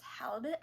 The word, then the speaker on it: halibut: Also, I figured out how to pronounce halibut, which is just, isn't that just a perfectly English word? That the U is pronounced like a soft I, and the I is pronounced like a soft U.